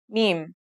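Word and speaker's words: ميم: now let's start with our first letter mem this letter sounds just like the English M and it should be pretty easy to pronounce let's write it in the isolated form meme now let's see the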